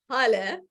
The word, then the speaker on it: Hale: My name is Hale, pronounced like hallelujah.